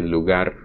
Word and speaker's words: lugar: The point is, most Spanish speakers, especially when they speak fast, they do not pronounce the G sound as G, they actually spirantize it or fricativize it, which is more difficult